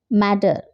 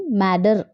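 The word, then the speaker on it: mutter: Next, मैटर. मैटर, here MUTTR, it's not matter, it's matter. You have to pronounce matter. D you have to pronounce here instead of T.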